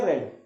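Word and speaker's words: read: अगर ये वर्ब की सेकंड फॉर्म है तो हम इसको क्या बोलेंगे, रीड या रेड, तो फिर हम इसको रेड बोलना पड़ेगा। ओके, समझ में आई बात। रीड रेड, रेड होता है, सेम होती है फॉर्म लेकिन प्रोनाउंसिएशन कुछ अलग होता है।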